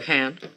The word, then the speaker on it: Spokane: Speaking of character, though, Spokane. We need to talk about pronunciation, by the way. Spokane.